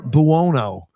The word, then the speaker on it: Buono: And his name was really hard to pronounce. It's Victor Buono.